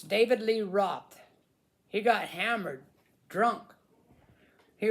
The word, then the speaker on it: Roth: Roth, I think is how you pronounce that. Roth. David Lee Ross. Ross, maybe. David Lee Ross. I'm not very sure. How do you pronounce that? Let's see. Let's Google David Lee Ross. Anyways, he got hammered. David Lee Roth.